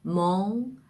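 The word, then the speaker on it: mon: 비강모음이라는 그 보험이 되는데요이 오 발음을 하다가 끝에 코로 올려줘서 발음을 하는 겁니다 그러니까 코를 통해서 발성되는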